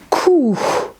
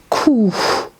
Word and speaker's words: کوه: And کوه, mountain, کوه. You see, we here pronounce he, which is the last member of this beautiful family.